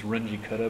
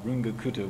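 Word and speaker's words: Runge–Kutta: I was at MIT was Renji cutter but now I'm informed my son tells me it's now rune gakuto which is the correct way to pronounce the names obviously but I can't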